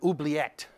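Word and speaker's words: oubliette: can be legally disappeared there's something called an oblet I believe that's the proper pronunciation it comes from the French meaning to forget and this was a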